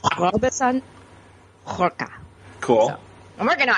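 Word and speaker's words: Robson Rocha: It's Robson Roca.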